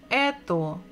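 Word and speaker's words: это: also the the so if we read the last word it will be ETO if we look at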